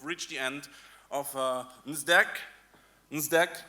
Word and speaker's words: NSDEC: NSDEC, remember the D is silent.